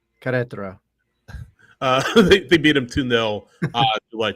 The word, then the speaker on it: Querétaro: I still don't know how to pronounce that. It's Querétaro. Querétaro.